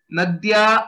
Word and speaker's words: नद्यै: सो हाउ to pronounce a okay. नद्यै नदी नदीभ्याम नदीभ्याम नदीभ्यः नदीभ्यः। This is a combination of दकार एंड यकार।